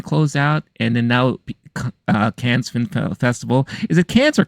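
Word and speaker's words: Cannes: not act too fancy I would say can can okay yeah no one's saying Khan sorry but like cat cat but no s yeah gotcha okay so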